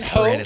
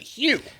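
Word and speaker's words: Hough: Hugh. Oh, Julianne Hugh. No, it's not Ho. It's It's H O U G H.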